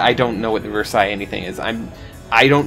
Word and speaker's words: Versailles: watched say that name pronounces it horribly it's french it's versaille the versailles treaty the